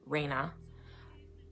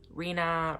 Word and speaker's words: Rhea: now I call her Reyna. I've heard her name pronounced so many different ways. Rena, Rihanna. It's all really your preference, but I call her Rena. It's always been Rena, okay?